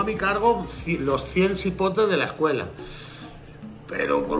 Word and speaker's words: cipote: Porque ajá, se escribe con C, pero se dice con S. Ajá, con S.